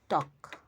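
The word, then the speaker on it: talk: আর যদি এল কে এর আগে এ বা ও এই দুইটা থাকে তাহলে এল কে এর ভিতর এল উচ্চারিত হবে না।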